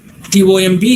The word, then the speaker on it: tomb: Lamb, TOMB is tomb. PSYCHOLOGY is psychology. The P is silent there.